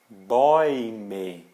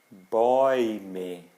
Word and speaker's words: Bäume: Então, se aparecer A com trema, U, é como se fosse EU, que a gente pronuncia OI. Exemplos: Häuser. Häuser. Né? O plural de Haus, casa. Häuser. Bäume. Bäume.